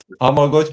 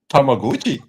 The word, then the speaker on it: Tamagotchi: Tamaguchi. It's Japanese. It's not Tamagotchi. How did you pronounce it? It's not that Tamagotchi castle, is it? No, it's Tamaguchi.